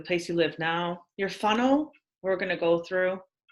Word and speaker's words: whānau: So the W and H is pronounced like pho because you say whānau, Yes.